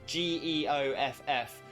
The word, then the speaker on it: Geoff: Some people do have their name spelled like that, but that the first Geoff, that is another way of spelling Jeff, and that's with what we call a soft G.